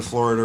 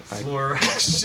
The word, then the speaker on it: fluoride: stopping the Florida relations or whatever it's called. Florida. Fluoride.